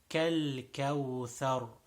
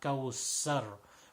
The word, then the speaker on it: الكوثر: There's no qaf in this, so make sure we pronounce a clear kaf sound. Thar, it is tha. So again, tip of the tongue and tip of the two upper front teeth. Tha sound, not kawsar.